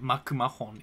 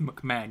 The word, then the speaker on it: McMahon: likes wrestling he like you don't pronounce it makahon it's pronounced McMahon you know that right